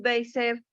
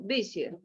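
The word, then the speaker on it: Bézier: Este es el efecto, entonces se crea un cubic Bezier o Bezier, no sé cómo se pronuncia, que tiene estos valores.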